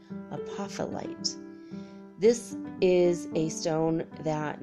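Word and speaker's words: apophyllite: that guys all right a puffle ight apop hy l li T a puffle ight this is a stone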